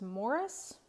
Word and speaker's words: Maurice: maurice by Ian Forrester I will mention that I think that the British pronunciation of this is Morris and I just can't get myself there so for me this is Maurice the warden by Anthony